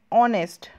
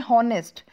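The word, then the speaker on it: honest: ऑनेस्ट, ठीक है ऑनेस्ट, लेकिन हम इसको लिखते हैं हॉनेस्ट, बट ये हॉनेस्ट में जो एच है हमारा वो रीडेबल नहीं होता है, उसको हम रीड नहीं करते हैं, उसको साइलेंट रखते हैं और इसको हम पढ़ते हैं ऑनेस्ट, तो जो हमारा साउंड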